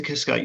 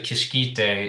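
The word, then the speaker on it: Kiškytė: So, I mean, with this is Kiska, your production designer. Yeah. Am I pronouncing her surname right? Well, yeah, that's how I used to think it was pronounced, but it's actually Kishkite.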